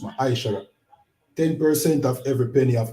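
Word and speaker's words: מעשר: 10 means 10 in the Hebrew and is pronounced Ma'aishara.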